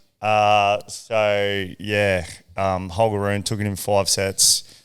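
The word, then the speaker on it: Holger: by hogar hogar as they so pronounce it at the French Open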